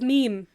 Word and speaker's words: meme: argument with someone once they're like it's spelled meim me and I'm like there's a ton of things that are spelled the way they're not pronounced like come on it's meme meme yeah that was a